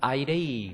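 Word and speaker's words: αἴρει: 좀 따라올 수 있겠죠 알파 아이 영어 이니셜로 변환하면 A 아는 발음이 나옵니다 a 그다음에이라는 그다음에 렇게 생긴 건 로라고 있습니다 근데 로를 영어로로 변환할 수 있습니다 3자 뒤집어 놓은 거 같은 것은 에라는 겁니다 어로이 발음이 나와요 그다음에 요거는 I 발음이 나오고 그러면 영어로 변환된 거 보면은 a입니다 우리 읽게 음가를 보면 아이레이 그렇게 읽어요 한번 읽어 볼까요 아이레이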